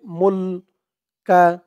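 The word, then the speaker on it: الْمُلْك: মুল কা, এখানে থামার কারণে উচ্চারণটা মুলক এরকম হয়েছে।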